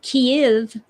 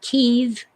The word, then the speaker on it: Kiev: It's still Kiev, not Kiev, Jan.